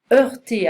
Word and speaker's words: heurter: Heurter, I don't pronounce the H in French.